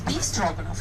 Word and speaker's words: Stroganoff: and during the Soviet pronounce stroganoff everybody knows be strong enough is that right so